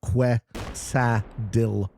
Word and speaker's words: quesadilla: Totally Lucky says Quesadilla is pronounced Quesadilla.